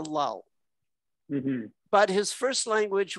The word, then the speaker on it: Llull: Well, if we were in Spain, you'd pronounce it something like Juji. Anglicized to Llull.